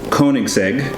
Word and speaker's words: Koenigsegg: So, just so you know, this is pronounced Koenigsegg, and I've heard like